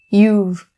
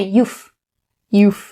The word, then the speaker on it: you've: keep in mind is upon the word you've you've don't change that don't say you you not correct you've you've and the next one